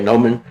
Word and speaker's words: gnomon: They say gnomon. It's spelled Gnomon, but it's pronounced gnomon.